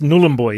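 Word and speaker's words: Nhulunbuy: you're from I'm from nulan boy nulan boy n boy now I've been calling it n boy but it's nul boy is it look I'm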